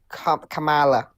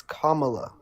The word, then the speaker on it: Kamala: Can Can I just say Can I just say I hate when people pronounce her name like Camala? It's Kamala.